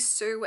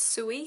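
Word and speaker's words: Sui: I just realized I kept saying Sue as in the name Sue, but it's pronounced Suey because it's S-U-I. So it's Suey sketch.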